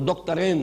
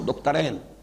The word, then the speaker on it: دکترین: نام لوں گا، وہ دکترین ہیں، میں عربی تلفظ استعمال کر رہا ہوں، دکترین، دو ڈاکٹرز ہیں، لیکن یہ کہ وہ فکر جدید کے حوالے سے کرنے کا کام کیا ہے؟